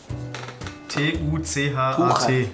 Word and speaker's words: Tuchat: Wie schreibt man das? T-U-C-H-A-T.